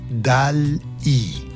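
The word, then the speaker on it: DALL-E: En el año 2020 sorprendieron al mundo con DAL I. D A L L E que se lee dali. Se escribe diferente, pero se lee igual que el nombre del pintor famoso.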